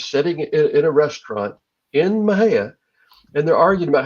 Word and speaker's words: Mexia: you look at it you think okay that's Mexia but the locals pronounce at Maha oh and there there's a story about two friends sitting in a restaurant in Maha and they're arguing about how it's pronounced and